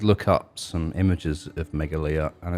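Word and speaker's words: Meghalaya: Is called Megalia, we decided. Yeah, that's how you say it. Yeah. Megalia, and that's a state in the northeastern part of India.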